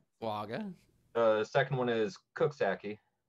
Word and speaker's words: Coxsackie: Coxsackie is correct. Is that right? Okay. Looks like it sounds then.